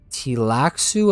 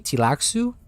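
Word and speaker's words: Tleilaxu: Tilaxu, apparently. Tilaxu? That's how you say it.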